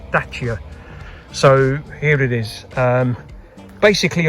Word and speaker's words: Dacia: initiated, a Dacia Sandero, and that's the correct pronunciation of the brand. It's Dacia, not Dacia or Dacia or however, it's Dacia.